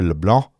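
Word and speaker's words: LeBlanc: a touchdown to Peter Leblon the C is silent in Peter Le blon shout out to the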